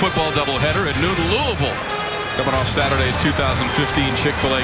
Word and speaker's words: Louisville: And as, of course, being the pro that you are, Tom, you pronounce that Louisville right. Louisville. You know, they get upset up there when you say Louisville.